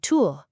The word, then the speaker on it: Tür: Just say E, freeze your tongue completely in place, and round your lips. That's it. It lets you perfectly pronounce words like "fünf", which is five, and "Tür", meaning door.